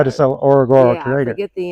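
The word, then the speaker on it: Ngorongoro: From Zambesi, we're going to go to Orogoro Crater. Very good. You said that right. Yeah. Orogoro. It starts with an N. That's what's confusing.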